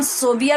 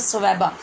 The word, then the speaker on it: ثویبہ: یاد رکھیے، حضرت ثویبہ، بعض کتب میں ان کا نام صوبیہ بھی لکھا ہوتا ہے اور لوگ اکثر یہ پڑھتے بھی ہیں، لیکن اصل تلفظ اس کا ہے حضرت ثویبہ۔ آپ نے بھی حضور